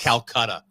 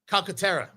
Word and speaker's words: Calcaterra: Calcutta. That is not his name. That's not Calcutta? I thought that was his name. That is not his name. No. Oh. Number 81. Jimmy Calcutta. Calcaterra.